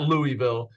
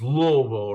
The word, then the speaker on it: Louisville: criticize me I know it's not Louisville it's Louisville right is that how you say it yes like you have marbles in your mouth I love it awesome